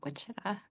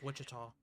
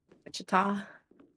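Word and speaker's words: Wichita: So, I should go go back to searching Kansas City, not Witchah. Wait. Okay, there we go. Wa. Wida. I think it's Witchita. Witchita.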